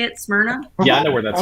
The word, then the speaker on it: Smyrna: in smyrna is that how you say it smyrna yeah i know where that's at yeah yeah